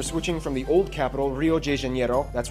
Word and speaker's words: Rio de Janeiro: from the old capital Rio de Janeiro that's right it's pronounced Rio de Janeiro not Rio de Janeiro get it right we're not in Mexico this is Portuguese not Spanish this was done in